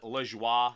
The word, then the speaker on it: Lajoie: You know, I know the French pronunciation is la joie, but whatever.